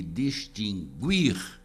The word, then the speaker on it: distinguir: distinguir sem trema e distinguir com trema hora a pronúncia do Woody distinguir não tem sentido porque esse verbo não tem o pronunciado basta conjugá-lo no presente